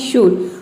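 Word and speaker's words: should: यदि एल के बाद डी, एफ, के, एम आ जाए तो वैसे सेंस में एल जो है वह साइलेंट रहता है। जैसे कि देखिए यहाँ पे है शुड, इसमें एल के बाद क्या आया है, डी आया है, तो इसमें एल जो है वह साइलेंट है, इसको हम प्रोनाउंस करते हैं शुड।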